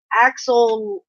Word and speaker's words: axolotl: It's an axolotl.